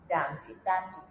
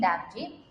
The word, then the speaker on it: Damji: And I'm here with someone who is going to pronounce her name properly and I'm going to follow it. Tasneem Damji. Damji. See, I followed it right. Tasneem Damji.